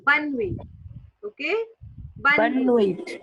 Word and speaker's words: bonne nuit: टी is silent. Okay, so bun It's wi, yeah, bun wi. Okay, bun bonne wi, nuit. yeah, bun wi, Okay, bonne nuit yeah, means good night.